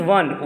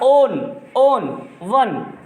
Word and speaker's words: one: No, sorry Razia, it is not one, it is one. One means you will pronounce it as consonant. One, not own.